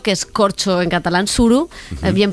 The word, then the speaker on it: Suro: para hacer surok que es corcho en catalán Tsuru es bien pronunciado equivalencia en lleida dirían Entonces está perfecto